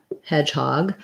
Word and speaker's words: hedgehog: um question about hedgehog we have the ah vowel so hog kind of sounds like this ah hedge same as edge we just have our j sound like letter j looks like that in the ipa and our red tent vowel hedgehog hedgehog is a